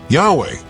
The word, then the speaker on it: Yahweh: my name is Jehovah Yahweh closer but still mysterious most Scholars today agree that Yahweh is is a more accurate reconstruction of the original pronunciation it likely stems from